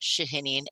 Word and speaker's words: Shahinian: The firm's name is pronounced Chiesa, Shahinian, and Giantomasi.